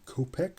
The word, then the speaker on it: kopek: That is a Ukrainian coin, Ukrainian 50 kopek, I believe is how they pronounce that.